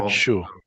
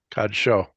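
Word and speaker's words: קדשו: If it's on top, it's o. Well, Kadshu. not oo, o. O, Sorry. like O-H. Kadsho.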